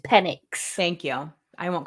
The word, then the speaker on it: Penix: it's going to take to get them it's pronounced penix thank you I won't call him penix anymore I'm sorry pen my pronunciations are the